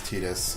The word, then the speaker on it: Tidus: So officially, the pronunciation is Tidus. Unfortunately, that's what they use in World of Final Fantasy. So it's what I'm going to start trying to use. But still going to call him Tidus.